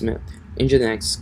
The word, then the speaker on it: Nginx: So actually it's just a matter of updating your PHP configuration file and your Nginx, or how do you pronounce it? It's Nginx configuration file.